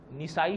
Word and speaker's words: نسائی: پر پڑھتے رہتے ہیں، نسائی شریف. اور حضرت کا بھی نام لیتے ہیں تو کہتے ہیں امام نسائی. حالانکہ بڑا فرق ہے نسائی اور اصل تلفظ ہے اس کا نسائی، نون پر زبر ہے.